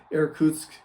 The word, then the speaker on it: Irkutsk: But the Russians never really had that because, Siberia and Yakutsk, and Maria helped me with this pronunciation, Irkutsk, and these, places all the way extending to the Bering Strait.